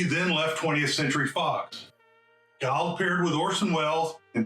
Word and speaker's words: Guild: This lovely young actress was cleverly marketed as her name rhymes with wild. Guild made her screen debut in the Joseph L.